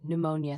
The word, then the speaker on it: pneumonia: Silent P at the start of Greek origin words. Psychology, pneumonia, psalm.